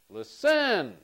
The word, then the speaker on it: listen: listen or listen listen listen I like this one so for listen the stress is on the first syllable D listen once again the stress is on the first syllable for listen and when the stress